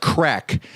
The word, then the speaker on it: craic: the the Irish thing that's pronounced crack and that's where you